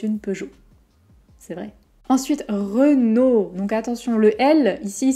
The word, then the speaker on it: Renault: peugeot renault peugeot renault si le r de renault est difficile à prononcer essayer d'ajouter d'abord une consonne devant comme le que de tout à leur creux nos chronos et supprimer ensuite le que renault vous pouvez aussi essayer